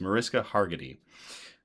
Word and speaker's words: Mariska Hargitay: So, it's definitely the Mariska I always get her name her name wrong. It's Mariska Hargitay.